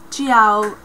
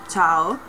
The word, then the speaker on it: ciao: you can say and a lot of anglophones say chiao like ciao or but i think